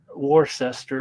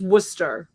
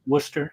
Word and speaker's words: Worcester: be the teens wait is that Winchester Massachusetts War sester oh no it's Worcester it's pronounced Worcester Worcester all right yeah Worcester years ago Worcester was